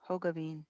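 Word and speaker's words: Hogeveen: go and that's how do you say your last name hogavine hoga Bean long o it's dutch okay because I have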